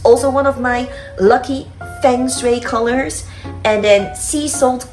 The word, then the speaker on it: feng shui: matches my feng shui, as we like pronounce this in Western way, feng shui, but actually it's feng shui.